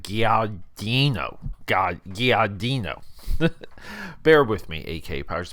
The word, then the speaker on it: Guadagnino: I'm trying to pronounce his last name. It's like Guadagnino.